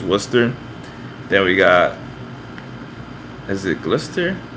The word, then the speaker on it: Worcester: I know Worcester, that's like spelled like Worcestershire, but it's Worcester.